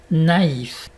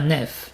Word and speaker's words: naïf: Naïf. Et pas nef, donc naïf. Donc bien prononcer le I.